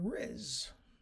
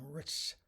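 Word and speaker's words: rizz: first heard that word I thought somebody was mispronouncing Ritz as in Ritz crackers or the richz hotel no to Riz is um a shortened variation form of Charisma okay and so that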